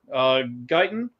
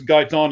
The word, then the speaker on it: Guyton: The cornerback, Diggs being out, or offensive tackle, I believe it's Guyton is how it's pronounced.